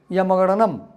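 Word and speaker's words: ञमङणनम्: Yamagananam.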